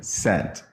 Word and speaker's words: scent: is silent really and the S is silent because you're just saying like one cent really yes I'm sorry on what on whose authority mines just like I was 16.